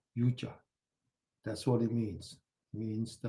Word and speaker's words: yoga: That's what the word yoga or its original pronunciation in Sanskrit, yuja.